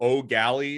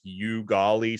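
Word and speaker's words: Eau Gallie: always try to say I think oh oh Galley is is how you say his high school name I always butcher it and people from that area because I try to say like you golly sometimes that the people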